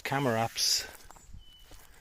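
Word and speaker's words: Chamaerops: to put the uh camaraps. Apparently, you pronounce it with a K. So, it's Camarops um the different varieties which I have here.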